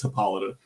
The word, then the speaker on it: Hippolyta: and and just whatever because uh I know it's spelled like hippo litter or whatever but I know I know it's hippolyta uh but there's like